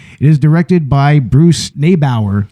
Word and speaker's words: Neibaur: is directed by Bruce nebauer I believe that's how you pronounce it and written by